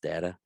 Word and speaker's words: data: and by the way, do you know it's not pronounced data, it's pronounced data? I said data because that's the name of No, the no, no, no, no. character. The whole reason why it's said it that way is because of Patrick Stewart, and everybody uses that pronunciation nowadays.